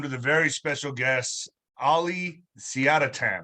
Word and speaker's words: Siadatan: I am joined with a very special guest, Siadatan, right? Siadatan, is that how you say it? That's it. You got it said it right.